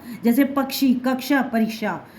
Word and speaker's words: कक्षा: अब देखो कक्षा, क्लास को कक्षा बोलते हैं, इसमें आधा का लग गया, कक्षा। बिना इसके नहीं बोल पाओगे आप लोग कक्षा, क्योंकि ये शाह क्षत्रिय बाद में आया है।